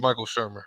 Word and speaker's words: Michael Shermer: Michael Shermer for sure.